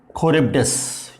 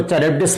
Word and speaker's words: Charybdis: Pronunciation में very a बिट, बट इसको चरिब्डिस मत पढ़िए। ओके, तो सिला एंड खरिब्डिस इज द प्रोनाउंसिएशन।